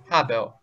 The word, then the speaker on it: habeo: Да, буква H, она читается как английская такая легкая. Habeo, habeo. Почти не слышно.